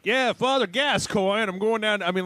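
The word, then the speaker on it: Gascoigne: football coach that had that name and it's pronounced gascoin gascoin okay um but I don't know if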